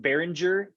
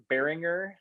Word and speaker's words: Behringer: is the behringer x-32 behringer bearinger i've see i've heard it pronounced two different ways kind of depends what country you're from it sounds like but uh this is